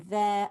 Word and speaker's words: vert: S there, and oops, and in vert, they'll be surprised to see the T there.